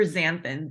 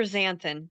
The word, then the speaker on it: xanthin: ionic elements the super xanthin and I know that I didn't learn I just want to say it's super xanthin the x is pronounced like a z super xanthan thank you super xanthan